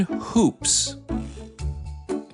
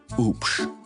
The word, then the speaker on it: Hoops: My last name is oops. The H is silent.